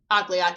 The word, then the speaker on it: Akliak: Akliak. It's spelled like Aklak though. Okay. But Akliak.